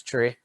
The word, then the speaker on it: three: pronounce them regularly so three is commonly referred to as tree five is five nine